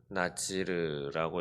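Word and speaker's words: נזיר: 여기서 나실이라고 하는 것은 어, 히브리어로는 나찌르라고 이렇게 발음을 하는데 히브리어 나찌르는 무슨 뜻인가?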